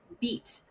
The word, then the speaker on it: bite: Because in French, there's a slang word for penis, which is beat, which is spelled Mm. Bite, Oh, same as the English bite.